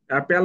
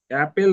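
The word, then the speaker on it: appal: অ্যাপেল মানে কি? অ্যাপেল মানে হচ্ছে আতঙ্কিত করা, যদিও এগুলো একটু ওয়ার্ড একটু কঠিন। ঠিক আছে, অ্যাপেল। আরেকবার বলো। অ্যাপেল। অ্যাপেল নয়, অ্যাপাল।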